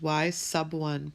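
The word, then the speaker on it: y₁: And the y1 and the x1, remember this is pronounced y sub 1 because the 1 is down below, like a submarine goes down below the water.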